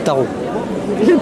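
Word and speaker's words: Tharaux: Moi, je m'appelle et je suis maire d'un petit village de 65 habitants qui s'appelle Tarot. Voilà. Alors je sais pas, voilà. Ça. Comment ça s'écrit?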